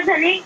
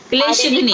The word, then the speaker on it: क्लेशघ्नि: कलेशा धनी सुविधा। धनी नहीं, शब्द का उच्चारण ठीक से करो। क्लेशघ्नि, घा है, आधा घा ना, क्लेशघ्नि।